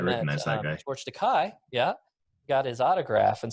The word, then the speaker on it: Takei: Does So George Takei like say, it's Takei. It rhymes with gay.